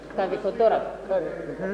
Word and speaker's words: Kavekotora: And the Honorable Kavekotora, am I pronouncing your name right? Yes, yes. Kavekotora. Honorable Kavekotora, I'm doing an excellent job in pronouncing the name, unlike you who cannot pronounce Kugomje.